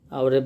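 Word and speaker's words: hour: আর এইচের উচ্চারণ যদি ভাওয়ালের মতো হয়, যেমন আওয়ারের বানানটা কিন্তু এইচ দিয়ে, কিন্তু উচ্চারণটা কিন্তু হাওয়ার নয়, আওয়ার, সুতরাং এক্ষেত্রে হবে হচ্ছে এন।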